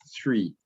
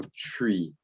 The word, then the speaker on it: three: pronunciar las cosas correctamente, vas a escuchar three. Ok, y no tree, porque tree es un árbol.